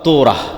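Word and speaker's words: תּוֹרָה: মুসা আলাইহিস সালাতু ওয়াস সালামের কওমকে যখন তাওরাত দেওয়া হলো, তোরাহ বলে ইহুদিরা উচ্চারণ করে, যে তোরাহ, যখন তাওরাত দেওয়া হলো,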